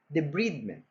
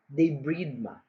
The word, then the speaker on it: debridement: There are actually 2 accepted ways to pronounce it. The first is debridement. Debridement. The second accepted pronunciation is debridema. Debridema.